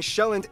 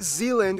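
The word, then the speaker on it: Sjælland: and 74 are inhabited the largest island being shelland not zealand which is not to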